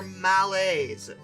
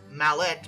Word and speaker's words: Mallet: And this source said, "Oh, oh, oh, they're males, which I mispronounced as mallet because I'm an American and there's a T there.